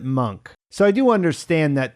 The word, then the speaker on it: Munch: I should mention that we hear the character say his own name in episode 4 and he pronounces it monk so I do understand